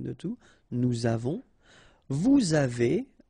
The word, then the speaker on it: avez: two, nous avons, vous avez, a Z at the end will produce this E sound, avez, little link between the